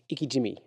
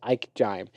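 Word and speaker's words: ikejime: real name is called I said it wrong the first time it's called I it says I ke e j j i m it's got iy jimy iy jimy I read as Ike Jim and what it is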